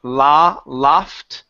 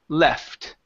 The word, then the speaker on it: left: is going to be left instead of La LOF okay give me an e sound here E le left left left okay very good very